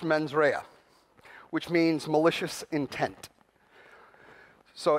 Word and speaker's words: mens rea: Now, I'm not very good at Latin, but I believe it's pronounced mens rea, which means malicious intent.